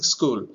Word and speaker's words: school: we are not pronouncing we are pronouncing school so here H remains silent so in the four